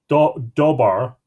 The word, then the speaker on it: Dobar: two wonderful horses of dobar pronounced do ba or dub are King of Sicily which